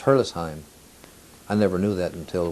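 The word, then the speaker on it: Herrlisheim: town near it called hurlis the the actual pronunciation of the word hurlis it's hurlisheim i never knew that until we went back to to france a year ago but but the pronunciation is hurlessheim or hairless heim or whatever but not hurtless shine as most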